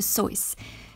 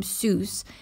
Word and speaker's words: Seuss: by Dr Seuss and yes it is Dr soyce did you know that most people have been pronouncing his name Seuss and that it used to make him cross so now we can make it up to him by pronouncing his name Dr soyce and let's read on